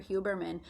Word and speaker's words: Huberman: professors from stanford dr hubermann if you can check him out on youtube he's amazing his name is dr hubermann um pretty much spelled phonetically h-u-b-e-r-m-a-n dr huberman he just did um an